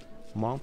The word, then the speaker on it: Hmong: Okay guys, now we're entering the Hmong tribe. I think that's how you pronounce it. There's an H in the beginning of the word.